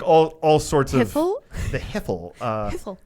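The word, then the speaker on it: Hiphil: all sorts of the hipple uh you got to say it like that the hipple I did I know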